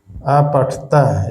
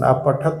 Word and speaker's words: अपठत: अपठता, इसको पढ़ेंगे अपठता, पूरा उच्चारण। अपठत इसको नहीं कहेंगे बल्कि अपठता।